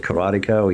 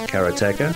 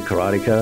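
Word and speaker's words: Karateka: Jordan mackner recently re-released karatica he says katea yeah the way he pronounces it said kartica everyone said karatica and it is katea and what was the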